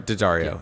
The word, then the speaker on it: Daddario: Just like on the shoulders, and they're pointing like Alexandra Daddario, is that how you say her name? Daddario. It's like the Daddario. strings. Daddario.